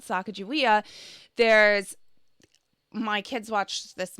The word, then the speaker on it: Sacagawea: languages for a while for example sacajawea that we grew up in was called sacagawea there's my kids watched